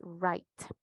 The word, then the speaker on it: write: right esto es correcto dices write y la W la W silenciosa en dos palabras acá escritor equivocado o